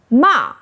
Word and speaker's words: mà: Fourth tone ma means scolded to speak angrily to someone.